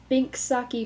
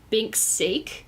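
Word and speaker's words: Binks' Sake: I hate that when I ask for the Alexa to play it, it says Bink's sake. And I know, like, you stupid English hoe, that's how it's spelled, but that's not it.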